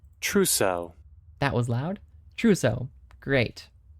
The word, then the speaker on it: trousseau: Trocio. Definition. How do you pronounce this anyways? Trousseau.